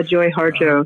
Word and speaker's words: Harjo: Is that how you say her name? Yeah, Joy Harjo.